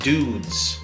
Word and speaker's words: Douxds: branding going there and that is pronounced dudes d-o-u-x-d-s and if their product